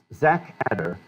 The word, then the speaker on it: ZACHATTR: Zach Adder, but spelled with a CH.